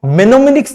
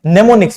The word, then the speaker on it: mnemonics: Spelling ये होती है, इसमें स्टार्टिंग इसकी किससे होती है? एम से होती है, और एम को यहां पे हम साइलेंट रखते हैं। इसको हम मेनोमिनिक्स नहीं पढ़ते हैं, नेमोनिक्स पढ़ते हैं।